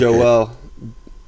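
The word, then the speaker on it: JWEL: it to my table is it jewel like g j e w e l just like no j w e l is the stock ticker and it's pronounced joel jw i put it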